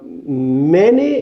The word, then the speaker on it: many: thing i want to teach you is the pronunciation of this word because i've heard a lot of students are saying money i have money brothers i have money books